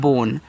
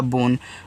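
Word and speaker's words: bone: ओ से ओ की मात्रा बो और एन से आपका ना लास्ट में जो इ है इसका उच्चारण करोगे नहीं तो ये आपका हो गया बोन।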